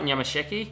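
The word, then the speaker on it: Nyamasheke: Is that how, did I pronounce it right? Nyamasheki?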